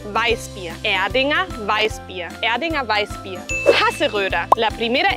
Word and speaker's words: Hasseröder: Hasseröder. La primera R gutural. La O umlaut formando una O con los labios pero diciendo E. Y la R al final como A. Hasseröder. Hasseröder.